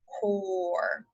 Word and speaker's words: core: What do you hear the O saying? Is it saying car, like octopus? Or is it saying O, core? That's right. This one's just a vowel consonant E. The O is saying its name. The E is silent.